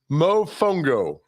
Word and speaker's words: mofongo: Mofongo. Yeah, emphasis on the fun.